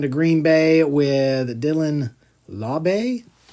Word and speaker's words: Laube: Going to Green Bay with Dylan Laube. I think that's how it's actually pronounced. 238 figured it out the other day, and I can't remember if it's Lobby. It's not Lob. It's something else.